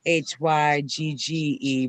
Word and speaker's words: hygge: never heard that one yeah it's like it's it's spelled h y g g e but it's pronounced hygge yeah that's interesting i